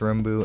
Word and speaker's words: rmbu: a backstory it's just it's pronounced Ru and it just sounds